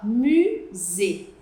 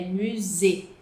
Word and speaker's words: musée: Primeiro, que a gente fala musée, musée, não é museu, é musée.